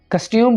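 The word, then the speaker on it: costume: I like his कस्ट्यूम, कस्ट्यूम बोलेंगे, कस्टम नहीं बोलेंगे।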